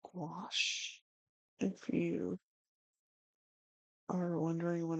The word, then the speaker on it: gouache: But this paint is called gouache. If you are wondering what I'm painting with if you're just tuning in. It's like gouache. It rhymes with squash and I'm loving it.